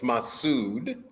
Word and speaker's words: Masud: no I appreciate that you were close it's massud massud and then the last name is